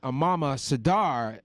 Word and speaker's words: Amamah Sardar: Funny lady Amamah Sadar is on the show. She's gonna make you laugh, everybody. By the way, I accurately. That's how you say her name. I did it accurately.